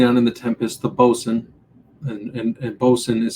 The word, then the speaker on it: boatswain: As a side note, bosun, again, it's phonetically it's boatswain, um, but it's pronounced bosun.